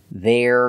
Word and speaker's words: they're: they are contraction there it's a small sound but it's very important to make that R sound there there they're going to or with